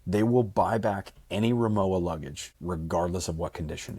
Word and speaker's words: Rimowa: How do I pronounce it again? I know you had to tell me this. Rimowa? I believe Rimowa.